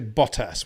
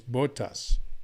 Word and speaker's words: Bottas: But I say Bottas. I don't say Bottas, which is incorrect. I say Bottas. I took the trouble to ask him when he was in GP3 how to pronounce his name. He said it's Bottas. And I said Bottas ever since.